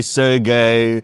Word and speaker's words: Sergey: You got Sergey, Sergey. They all pronounced differently. No, it's always Sergey.